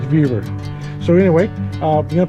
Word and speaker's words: Vevor: Is that how you pronounce that? Vaver. Viva. Vaver. Upside down. It's not Rover. It's Vaver.